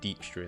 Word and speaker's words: Dijkstra: at the passiflora and I know I keep calling him Dykstra because that's just the pronunciation I've gotten used to I know they're calling Dijkstra in the game but no it's just one of those things hard habit to break so you can use